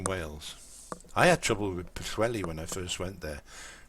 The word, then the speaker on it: Pwllheli: those who don't know, the double L in names in Wales is pronounced with a it's sort of like a CH double L noise.